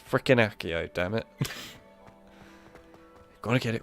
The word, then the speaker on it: accio: learn these we really need to learn accio not axio accio and I know they pronounce it in another way in this game as well it's freaking accio damn it gotta get